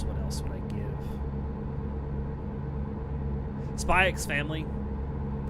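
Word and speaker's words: Spy × Family: else would I give spyx family I'm going to pronounce the X because it's there anyone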